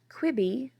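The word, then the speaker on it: Quibi: stable of ælis talent kwibi rhymes with Libby we learned was supposed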